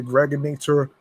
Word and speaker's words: Gregonator: I'm your man, aka the Gregonator. Rhymes with now or later, just like the candy.